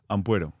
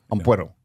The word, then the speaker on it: Ampuero: Because there's an O at the end, right? Ampuero. Ampuero.